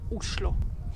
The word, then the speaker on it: Oslo: And actually, in Norwegian, the right way to pronounce the name of the capital is Oslo.